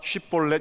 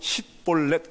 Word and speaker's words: 쉽볼렛: 이스라엘 사람들 넘치는 강, 넘치는 시내, 이런 단어가 히브리어로 쉽볼렛입니다. 쉽볼렛. 그러니까 그 이스라엘 사람들은 전부 다 쉽볼렛 이렇게 발음을 하는데 에브라임 사람들은 이상하게 쉽자를 못하고 십볼렛 이렇게 합니다.